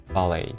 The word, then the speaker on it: ballet: ballet so we don't we don't pronounce t ballet ballet ballet okay